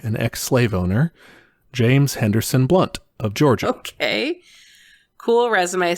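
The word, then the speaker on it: Blount: it's james blunt also but it's b-l-o-u-n-t and it's pronounced blunt i don't know if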